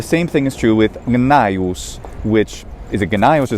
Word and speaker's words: Gnaeus: g and the same thing is true with naius which is a genius or something doesn't it